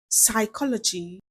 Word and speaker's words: psychology: Letter P is silent in words like cupboard, raspberry, psychology, cool, sam.